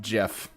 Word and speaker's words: GIF: It's pronounced GIF.